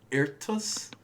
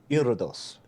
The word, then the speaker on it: Iridos: Irtus? Iridos, like iridescent, but like instead of decent, it's dos. Dose.